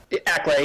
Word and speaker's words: Acklay: Oh, I can't pronounce that. Adult Acklay. Is that right? Acklay, yep.